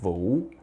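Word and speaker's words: Vũ: you got this right it's just like wu-tang clan but this time you have wu-tang clan but just give it a little bit of a spin you know boom right just up and down your chin like that voom and for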